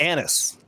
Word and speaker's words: anise: Now I bring up anus oil and they.